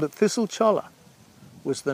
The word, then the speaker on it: cholla: mentioned earlier, as well as Jumping Cholla, or Jumping Choya, if you want to use the Spanish pronunciation, although there's a bit of confusion from country to country about which cactus does the jumping.